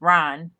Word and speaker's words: Ryne: And that's spelled Ryne, not Ryan. It's Ryan.